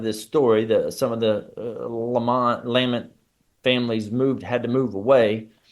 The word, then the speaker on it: Leman: My name is Leman, is how you say Leman, and Lamont, Lamont, is the clan in my novel.